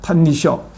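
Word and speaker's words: 歎異抄: 하지메노 탄니쇼 일본어으로 읽으면 이걸 탄니쇼라고 읽습니다.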